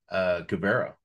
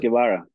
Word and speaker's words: Guevara: His name is Guevara, right? That's how you pronounce it? Guevara.